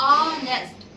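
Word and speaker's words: honest: जैसे ऑनेस्ट but spelling start for एच ओ एन इ एस टी। बट वी यूज़ an because we will go Hindi sound. ऑनेस्ट ऑनेस्ट अ is Hindi स्वर।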